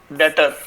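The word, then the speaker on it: debtor: तो बच्चों, अब ये थर्ड टर्म आती है डेटर। भी साइलेंट है। डेटर नहीं बोलते।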